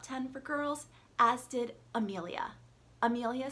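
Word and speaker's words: Emilia: If you cannot hear a difference between the pronunciation of those two names, well, neither can I, and I'm really trying to say them differently, but it's just not there for me.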